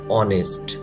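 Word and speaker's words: honest: এই ওয়ার্ডটির ক্ষেত্রেও একই অনেস্ট এখানে কিন্তু এই এইচ লেটারটি উচ্চারণ হবে না হ্যাপি হ্যাপি খুশি খুশি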